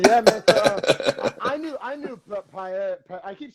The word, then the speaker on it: paella: So, I knew paella. I keep saying paella like the food dish.